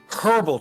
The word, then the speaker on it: herbal: was one point when I was saying herbal because in of course in America with herbs they don't pronounce the H. So I went oh wait I'm English herbal treatment and I actually did that.